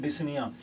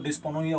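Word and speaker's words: dyspnea: हैं, क्या बोलते हैं, डिस्निया, डिफिकल्टी इन ब्रीदिंग, सांस लेने में दिक्कत आती है, तकलीफ होती है, इसे क्या बोलते हैं, डिस्निया। अरे सर ये तो डिस्पनोइया हो गया, अरे पी साइलेंट है इसमें, ठीक है।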